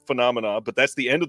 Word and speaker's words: Phenomena: you don't want to hear me try to pronounce f fonia is that right I feel like it's wrong phenomena phenomena ah see I wasn't even close the